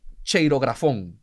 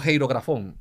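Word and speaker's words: χειρόγραφον: La palabra acta en griego es cheirografón o heirografón, depende de cómo usted quiera pronunciarla. Se escribe como un X la letra, pero es una chi o ji.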